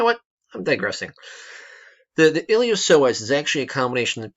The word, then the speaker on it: iliopsoas: there's the muscle called iliopsoas right the P is silent so why is it